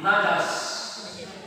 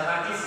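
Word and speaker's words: نجش: Nomor 2 najas. Jangan dibaca najis ya. Apa tadi? Najas. Najis. Nun, jim, sin. Jimnya disukuni, sinnya juga disukuni. Jadi bacanya apa?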